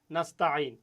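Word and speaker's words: نَسْتَعِينُ: আসছে এরপরে ওয়া ইয়াকা নাস্তাইন যেই আইনটা চেপে উচ্চারণ করতে হয় সে আইনটা আবার এখানেও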